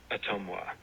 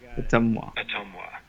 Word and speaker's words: Ottumwa: up his services, and this is how you're supposed to pronounce it as a native Iowan. Okay, maybe I should turn my volume up here. Atomwa. Did you hear that? I got it. Atomwa.